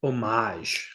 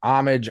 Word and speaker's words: homage: voice as that character by the way it's pronounced omage well you can homage omage however you want